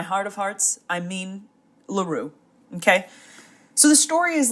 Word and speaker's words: Leroux: sorry if I say Loro throughout this video it is my intention to pronounce it correctly but the fact that it is Gaston laru and not Gaston loo is fighting against 32